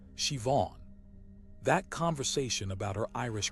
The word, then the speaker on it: Siobhan: I met a woman named Siobhan at a church fundraiser and learned her name is Irish and pronounced Siobhan.